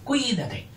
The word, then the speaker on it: cuídate: ruina ruina rui fuerte Cuidate enseguida se ve que se esdrújula porque si no sería Cuidate Cuidate Cuidate No ni Cuidate ni Cuidate Cuídate haceis ceis fuerte si